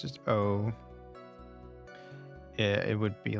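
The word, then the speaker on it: を: Maybe it's just O. Yeah, it would be like Watashi wa Tomato O Abemasu, I think. Yeah, you write wo, but it's pronounced O.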